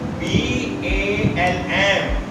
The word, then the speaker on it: balm: Like this, B-A-L-M, balm, A and M. If there is word, there is a letter L between A and M, so L is silent.